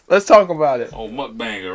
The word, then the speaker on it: mukbang: Oh, and I think it's pronounced mukbang or something. I heard somebody else say it on one of the little food reviewers, and they called it like mukbang or something. They pronounced it completely different than we did.